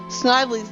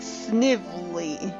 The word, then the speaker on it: Snively: by the way I just yesterday heard apparently snidely's name is actually pronounced Snively which is a stupid pronunciation